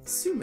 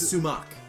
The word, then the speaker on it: Sumac: Sume. You want to name it Sume? Sume. It's Sumac.